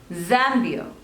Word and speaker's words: Zambia: There are 2 syllables. Zambia. And the stress is on the first one. Zambia.